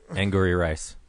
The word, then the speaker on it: Angourie Rice: Angourie Rice.